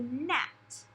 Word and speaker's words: gnat: little bug called a gnat. A gnat. Now, which one of these says gnat? Is it R-A-T-S or G-N-A-T-S? Which one says gnats? It's going to be the one with the silent letter.